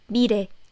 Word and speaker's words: 미래: If you don't know how to pronounce Korean real sound, I would say it's a little bit more similar to R sound. It's a 미래. It's not exactly R sound, but again, it's definitely not L sound. It's more like 미래.